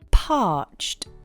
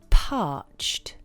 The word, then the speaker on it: parched: say I am Parched parched the pronunciation is parched it's a one-syllable word parched you don't pronounce -ed at the end of the word you say a soft /t/ sound.